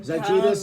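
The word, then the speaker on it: Žydrūnas: Zydrunas Cavs Ilgauskas, 7'3", low post center, dominant on both ends, runs the floor awfully.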